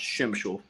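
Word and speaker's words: Przemyśl: sign up for the Shemishal and it sounds funny. It's pronounced completely different than it's spelled. Like us folks here in the U.S., it's like PSY. It starts with PSY, but it's pronounced Shimshul.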